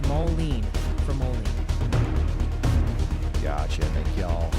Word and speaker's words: Moline: And hey, quick heads up from the pronunciation police. They're gently reminding us it's Moline for Moline.